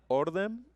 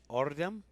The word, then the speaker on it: Ordem: Ordem. Ordem.